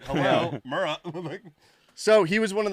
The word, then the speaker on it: Murrah: were at the Alfred Murrah building. By the way, in the first 2 episodes, I said the building name wrong. Oh, would you say? So it's not Murray. It's Murrah. Murrah.